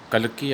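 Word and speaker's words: Kalki: Tiger king, it is written by कल्कि या काल्कि, दोनों वर्ड आप यूज़ कर सकते हैं प्रोनाउंसिएशन।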